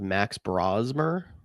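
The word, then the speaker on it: Max Brosmer: I believe you're speaking of Max Brazmer is how you say the name.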